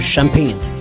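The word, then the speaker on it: Champagne: भी कह सकते हैं या फिर शैंपेन और फ्रेंच भाषा में इसे शंपन प्रोनाउंस किया जाता है तो ये बेसिकली फ्रांस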